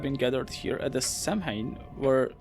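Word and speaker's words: Samhain: And so those people have been gathered here at the Samhine where wait it's not it's like samine salmon I think it's like salmon pronounced where and when the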